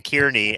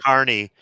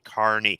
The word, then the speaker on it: Kearney: to explain to somebody at work how to pronounce uh Carney he kept saying Kearney and I'm like no it's Carney Carnival workers yeah he wouldn't stop and I'm